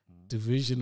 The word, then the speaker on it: dvsn: yeah this this guy's it's spelt dvsn but it's pronounced division division all right and